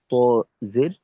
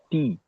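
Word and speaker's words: ت: যেমন ধরেন কেউ উচ্চারণ করলো তজের টি। টি উচ্চারণ করলো। আসলে এখানে উচ্চারণটা হবে তজের ত। তো যদি কারো সিফত জানা থাকে সে টি এই উচ্চারণটা শুনেই বুঝতে পারবে যে এখানে ত এর উচ্চারণ হয়নি।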